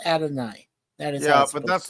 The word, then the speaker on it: Adonai: Yeah, isn't it like Adonis or? No. It's in Greek. It's pronounced Adonai.